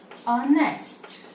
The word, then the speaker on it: honest: Suppose you say honest man, then here the pronunciation is honest. Though the word is starting with H is not pronounced.